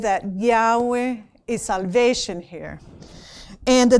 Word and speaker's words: Yahweh: it we use uh we pronounce Yahweh because we use the vowel a for Adam and Eve for um Eve the male and female. So we can pronounce it.